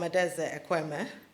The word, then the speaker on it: Adaeze Ekwueme: I'm Adaeze Ekwueme. That's the pronunciation.